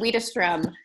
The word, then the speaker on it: Widerstrom: It's Jen Widerstrom.